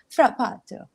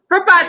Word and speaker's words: Frappato: I had to check how to pronounce it, but it's called Frappato. I think you have to say that really, really bad Italian accent.